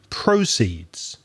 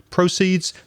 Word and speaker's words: proceeds: list of words but if you change the stress you get a different word proceeds proceeds the money or profit